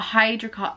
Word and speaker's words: hyaluronic: And then there is the hydrating serum, and it's got hyaluronic acid, that's how you say it.